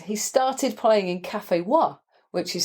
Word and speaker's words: Wha: He started playing in Café Wa, which is spelt WHA, ?